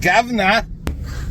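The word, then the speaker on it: Gouverneur: And if you ever saw how it was spelled, you would think the same thing that it's definitely pronounced Governor.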